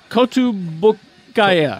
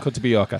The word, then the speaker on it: Kotobukiya: Kotobukiya. Kotobuyoka.